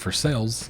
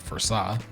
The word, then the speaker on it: Versailles: I mean, Kentucky has a lot of weird sayings to begin with because we have a place named Versailles, even though it looks like Versailles.